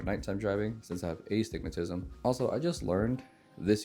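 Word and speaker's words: astigmatism: So I say aigmatism and she yells at me cuz it's pronounced a stigmatism.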